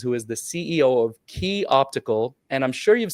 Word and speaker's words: Quay: I'd love for you to welcome Katherine Cousins, who is the CEO of QUAY Optical. And I'm sure you've seen QUAY, if you know it's pronounced QUAY, not QUAY.